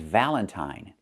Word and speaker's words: valentine: The first word is valentine. So, we see it's pronounced with I, the long I sound. Valentine.